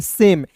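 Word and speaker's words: same: अंतिम में ई दिखेगा, तो ई जब भी रहेगा तो उसका उच्चारण आय के रूप में नहीं, इसे हम लोग पढ़ते हैं सेम। एस ए एम ई को सेम पढ़ते, लेकिन ई नहीं रहेगा दोस्तों, जिसे पढ़ेंगे सैम।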